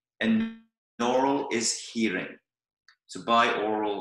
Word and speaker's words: binaural: normal is hearing so buy oral or binaural is how you pronounce it and meditation now there's